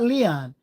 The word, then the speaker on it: Leon: My name is Leon. They say, "Hey, Leon." Leon. Leon. It's not Leon. It's Leon. L E O N. It's lion for Spanish.